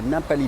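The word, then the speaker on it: Ngapali: Du coup, je suis allé à Napali Beach qui est un petit peu la plus connue. Donc ça s'écrit N G A P A L I Beach.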